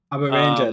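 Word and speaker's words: Abaranger: Abber Ranger, that would be how you pronounce it.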